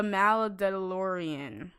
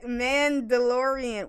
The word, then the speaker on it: Mandalorian: that the streaming service yeah plus called the malla DeLorean did I say it right I said it right mandalorian why is it why there's ARDS me man